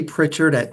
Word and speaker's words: Prichard: I would like to my last name phonetically has a t in it but grammatically it does not so my last name